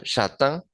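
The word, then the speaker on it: châtain: es alto y castaño la palabra castaño shatan se pronuncia la a Recuerden que si una letra diferente a la e lleva el acento o lleva un acento no cambia Para nada la pronunciación de esta letra y a lo último tenemos una a i n la i Nosotros sabemos que suena Entonces tenemos una a antes pero predomina el sonido de la in y decimos shat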